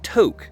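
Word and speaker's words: Tok: Eventually, I rolled into the town of Toque, spelled T O K, but pronounced like the beginning of a bad stoner joke.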